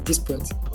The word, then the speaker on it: DSPYT: like DSPYT, and yeah, I usually pronounce it as like dispute.